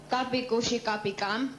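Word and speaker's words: Kabhi Khushi Kabhie Gham: Your film Kapi Kushi Kapi Kam.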